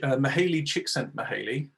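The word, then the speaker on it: Csikszentmihalyi: now just to talk about this wonderful guy mahali chick sent me haley um that is how you pronounce it i had to double check um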